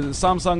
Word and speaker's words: Samsung: um they say well you pronounce Samsung it's Samsung I freaking lived in South Korea where Samsung is like one of the biggest companies I said Samsung and they're like no no no Samsung so I'm pronouncing it like the locals and I gotta admit